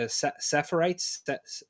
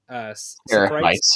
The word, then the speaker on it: Seraphites: The Sephites? Seraphites. Yeah, Seraphites.